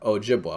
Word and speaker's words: Ojibwa: have chippewa e here well the french will pronounce an e like the english will pronounce an a okay the french will pronounce a b like the in english will pronounce a p the french will pronounce it j like the um english will pronounce the ch chi pe okay so chipway chipway chipwa chipwa and then the french will put a no on there ojibwa okay so that's my